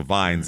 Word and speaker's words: Vines: Robert Vines here uh v i ns so veins veins almost veins there so Vines is how it's said now at this point